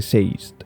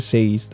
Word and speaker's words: Sazed: Sé que a muchos os suena raro que pronuncie Seist de esta forma. Yo lo pronuncio tal y como lo leí por primera vez, como aturdido en inglés, que es dazed, pero con S en lugar de D.